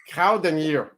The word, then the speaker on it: Kruidenier: and your last name get I've been near Cowden year hey did I said did I said it